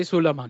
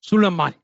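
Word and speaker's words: Sulaimán: there son of Jose sulan there you go there you go sulan you didn't know you gotta put the accent on the a Sul did I get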